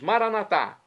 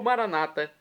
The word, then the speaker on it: Maranata: aramaico dialeto de Jesus maranat ou Maranata com a tônica na penúltima sílaba como dizem nossos irmãos